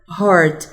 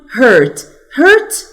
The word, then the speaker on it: heart: عايزة بس اقول لكم ان كلمة heart نخلي بالنا انها بتتنطق كده heart. محدش يقول hurt بتتكتب كده hurt وبتبقى بمعنى يجرح او يؤذي.